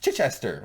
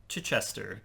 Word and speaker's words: Chichester: It's Chichester which James cannot pronounce. I don't know. He's a Say it. Chichester.